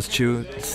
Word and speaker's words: Chu: So we saw Kyle Chu's list. I think maybe Kyle Joe. I think he wrote, it's pronounced Joe.